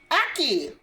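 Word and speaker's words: ackee: Spell it. A-C-K-E-E. Aki.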